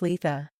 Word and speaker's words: Litha: straightforward just say it Lea without too much of an emphasis on the first syllable and if you don't